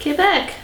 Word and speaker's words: Quebec: Quebec. Thank you for pronouncing it correctly. The French way.